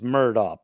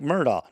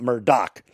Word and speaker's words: Murdaugh: the last name is murdoch pronounced like murdoch not murdoch gh is silent no k sound also your main subject